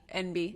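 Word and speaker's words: enby: Oh, non-binary. Yeah. NB. Yeah. Which took me forever, by the way, to figure out. NB. Well, what I when I first like saw it spelled, it's spelled like E N B Y and I was like, I don't get that.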